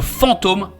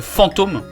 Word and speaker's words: Fantom: Attention à ne pas le confondre avec le Fantom, P-H-A-N-T-O-M, qui est le wallet de l'écosystème Solana. La prononciation est la même.